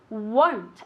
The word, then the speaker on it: won't: pronunciation of won't okay will not contract it is won't as if it had a u there okay no i won't